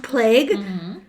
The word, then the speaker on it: Plegge: Rudolph Plague. Okay. It's Plegge. Okay. So it's spelled Pleggy, but it's pronounced Plague, which is weird for a hotel that is like meant